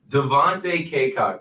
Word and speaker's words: Devontae Cacok: And we will stop talking about that and move on to Devontae Cacok. I looked up the pronunciation. I had to make sure. Devontae Cacok.